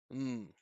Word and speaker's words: I'm: I'm not even going to pronounce the I, the vowel. I'm just going to go straight to the M sound, which for our ears is nothing more than mm.